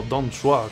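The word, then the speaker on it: Dong Zhuo: Tengo que aumentar mi fuerza si quiero derrotar a Don Zuo y hacer... o Don Zhua, que lo pronuncian de otra forma, como ya digo.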